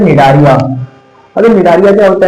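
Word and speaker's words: Cnidaria: not only belong to निडारिया हां याद आ गया ना देखो ये आपका निडारिया का है अभी निडारलिया के अभी सी लिखा है तो सी यहां पे साइलेंट है तो जो आपका निडारलिया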